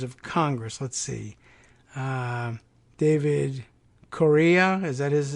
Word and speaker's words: Correia: David Correa, is that his name? Correa? I don't even know how he pronounces his name. Correia.